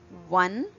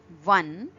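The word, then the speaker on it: वन: Okay, now wa, the same pronunciation we get from these two Hindi words like one, one, and this is absolutely not the one in maths that we study. This is the one which means forest in Hindi.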